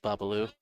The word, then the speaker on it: Bobalou: Have we all been saying it wrong this whole time? There's no S. It's just Bobalou.